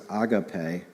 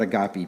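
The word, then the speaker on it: ἀγάπη: Warren Wearsby says that the word used for love is agapee. That's the right way to say it. All right? We're not agopy people here.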